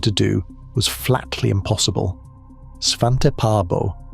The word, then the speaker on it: Svante Pääbo: Svante Pääbo, pronounced Sva-shen-te Pai-bo, wanted to read the DNA of dead species.